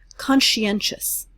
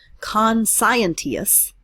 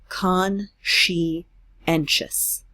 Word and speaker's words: conscientious: root sigh in conscience conscientious here's another one that works the same way it's not con scientist it's con she and Ches conscientious try saying that one we've got conscientious and